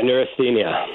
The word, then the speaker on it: neurasthenia: in your book and correct me if I pronounce it incorrectly uh neurasthenia yeah neurasthenia what what does the word mean and why